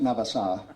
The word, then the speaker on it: Navassa: My first de-expedition was to Navassa, pronounced Navassa down there.